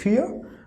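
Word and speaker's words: vier: then we have four in german it is fear okay fear see it is starting with v but pronunciation of v in german language is for right so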